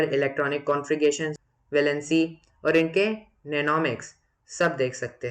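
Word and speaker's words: mnemonics: तो इस ऑर्डर को याद करने के लिए हम इसे सिंपल बनाते हैं, और सिंपल बनाने को हम नेनोमिक्स कहते हैं। इसमें एम साइलेंट होता है।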